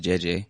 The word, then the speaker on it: Gigi: My godmother Gigi, pronounced JJ, always dressed up for church.